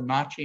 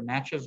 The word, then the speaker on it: Natchez: was the location of the nazi nation the natchez nation us people sometimes pronounce it that way um which with whom